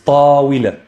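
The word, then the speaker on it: طويلة: So it's tawila. Tawila. The waaw is going to be pronounced as a consonant, and here it has a kasra, therefore it's going to be we.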